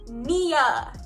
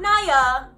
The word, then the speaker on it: Nya: Nya, not Naya. It's Nya. But it's okay if you call me Naya because I know it's spelled with a Y, so some people might be like, but it looks like Naya, but it's Nya.